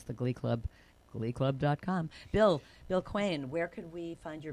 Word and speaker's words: Quain: Quain, it rhymes with Twain.